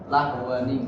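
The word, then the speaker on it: لهوا انفضوا: Nah, tapi di sini tidak, karena di sini ada tanwin bertemu dengan hamzah wasal, maka diganti dengan nun wiqayah tadi, yaitu dengan dihidupkan dengan nun kasroh lahwani. Maka di sebagian mushaf di situ tertulis dengan nun kecil di bawahnya. Ya, jadi cara bacanya lahwani.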